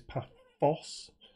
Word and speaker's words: Paphos: And yes, it is an F. Not a TH, so it is Paphos.